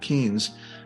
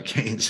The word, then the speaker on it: Keynes: by the way that John Maynard Keynes I'm sorry canes and mispronounced John Mayer Keynes went